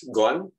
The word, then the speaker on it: gone: Oke, seperti ini gone, ini diucapkannya gone, G-O-N-E.